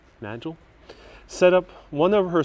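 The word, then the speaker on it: Nagle: that's weird here we have oh look at this nano nagel don't pronounce that naggle nagil set up one of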